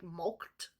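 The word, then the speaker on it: mulcted: milked now I looked at the word milk is spelled here m-u-l-c-t-e-d like mulked okay and it means conned horn swaggled or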